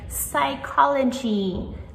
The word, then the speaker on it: psychology: So, in words like psychology, the p is at the very beginning, but we do not pronounce it at all.